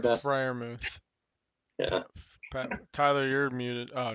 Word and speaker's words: Freiermuth: Pat Freiermuth or something like that. Freiermuth. Yeah. Tyler, you're muted. Oh, never mind. Okay, yeah. How do you say it again? Pat Freiermuth.